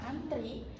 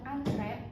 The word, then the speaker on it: antre: Di sini ada kalimat ibu sedang antri membeli obat di apotek dan ibu sedang antre membeli obat di apotek. Itu pelafalan yang benar menurut KBBI.